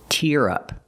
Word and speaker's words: tear: We use the ear sound like here and beer. Tear up.